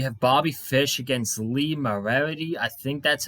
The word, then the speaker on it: Moriarty: We have Bobby Fish against Lee Morarity. I think that's how you pronounce it. Lee Morarity. Moriarty.